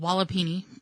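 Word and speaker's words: walipini: have here is called wallopini i think that's how you i would that's how i would pronounce it w-a-l-i-p-i-n-i so basically and what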